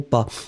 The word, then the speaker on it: pas: n'ai pas été nels est-ce qu'on prononce le S dans le mot pas non on le prononce pas mais si vous avez une voyelle après nels on va faire la liaison là par exemple je n'ai pas été je vous fais la liaison je n'ai pas été